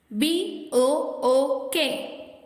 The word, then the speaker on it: book: இந்த வார்த்தையில ஷார்ட் ஊ சவுண்ட் இருக்கு. FOOT, foot. Say it again. FOOT, foot. BOOK, book.